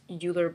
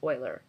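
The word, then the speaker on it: Euler: well querian and Oiler it looks like it's uler but I've been told it's pronounced Oiler so querian is very much like locked and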